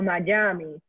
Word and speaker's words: Miami: majames which is miami so miami spells like this but you can pronounce that in spanish many people who don't know how to like pronounce in english would say miami or mayami and so that miami is another way of just writing phonetically in spanish what's in english so